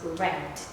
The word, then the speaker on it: read: Just like, for example, this one, read. That is the present form. But when we read it into the past form, it becomes read. Okay, so it becomes shorter.